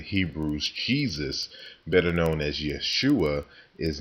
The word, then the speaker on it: Yeshua: really a Y sound, and Jesus, which is pronounced Yeshua or Yahashua.